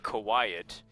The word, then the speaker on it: Kawhiet: It is unctennis and Kawhiet, as in like Q-U-I-E-T, but yeah, instead it's like a play on words, English onomatopoeia, I guess.